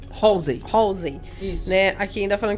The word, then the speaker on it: Halsey: Qual a pronúncia certa? É Halsey.